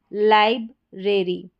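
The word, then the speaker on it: library: अब देखें किसी भी स्पेलिंग के लास्ट में यह वाला पैटर्न ए आर वाई आ जाए तो इसको एरी करके पढ़ा जाता है। जैसे यहां पर है लाइब्रेरी लाइब्रेरी।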